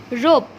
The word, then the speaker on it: rope: Okay, so moving to next one, rope. ROPE. The spelling of rope is ROPE. Here E will be kept silent while pronouncing, but while writing you have to write the spelling ROPE in this way.